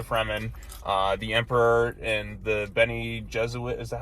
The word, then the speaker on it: Bene Gesserit: Paul Atreides has been with the Fremen, the Emperor and the Bene Gesserit.